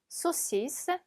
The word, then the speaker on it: saucisse: saucisse, saucisse. 자, 보면 아, 을 붙어서 오 발음 나고요. s 두 개 있으니까 스 발음이 나죠. saucisse라고 읽으시면 됩니다.